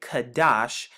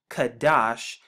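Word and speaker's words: קדש: here strong's h6944 kadash we have the q right here once again the dala to get the d sound and then the sean to get the sh and when we put it together we get kadash kadash kadash right here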